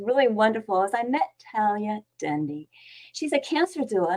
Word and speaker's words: Talaya: Talaya, welcome. Hi, Debbie. Hi. And it's pronounced Talaya. Oh, Talaya, sorry. It's a beautiful name, Talaya.